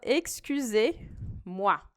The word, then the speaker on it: excusez-moi: o bonjour, você fala excusez-moi. Excusez-moi, bem parecido com o excuse me do inglês, né? Excusez-moi. O que a gente tem aqui de interessante? Esse Z a gente não pronuncia, é uma letra aqui